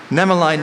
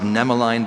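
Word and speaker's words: nemaline: Nemeline means having the form of threads. A number of myopathic diseases are characterized by the presence of nemeline bodies in muscle tissue.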